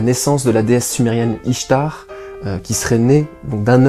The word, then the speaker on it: Ishtar: L'œuf pourrait correspondre à la naissance de la déesse sumérienne Ishtar, qui serait née donc d'un œuf qui flottait sur l'eau. Ishtar, qu'on prononce aussi Eshtar, et qui aurait peut-être